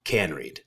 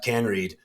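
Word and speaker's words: Kaneryd: Johanna and I actually I think I said her name wrong earlier it's can Reed I believe it is Johanna can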